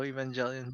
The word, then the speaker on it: Evangelion: I think it's a root from evangelist. So Evangelion, but they're Japanese, so they make it a hard G.